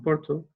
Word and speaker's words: Porto: Yes, is that how you pronounce Porto.